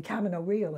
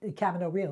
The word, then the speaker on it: Camino Real: When I played Marguerite Gautier for Michael Kahn in in Camino Real, and that's the way it's pronounced. It's not Camino Real. It's the American Camino Real.